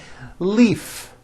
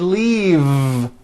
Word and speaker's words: leave: with a voiced V Leaf I'm in a hurry and I need to Leaf is that correct no it's not leaf with an unvoiced F I should have said leave with a voiced V sound fisa she just